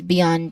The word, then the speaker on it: beyond: Let's start with beyond which has two which has two syllables in it. the y um we stress here on the second syllable y but the first syllable is b beyond. Now b is very simple there's only a short a vowel sound a short e vowel